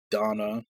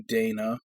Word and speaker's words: Dana: Same problem I had with Donna in East 8. Should be Dana from the way they spell it.